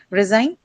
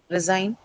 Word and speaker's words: resign: Resign. Resign. Sign. Right. The second syllable because it's a verb.